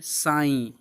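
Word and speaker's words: sigh: जैसे देखिए साई, दो, थाई। इन वर्ड के लास्ट में जी एच है लेकिन हम जी एच को पढ़ नहीं रहे हैं, इसको हम साइलेंट किए हुए हैं।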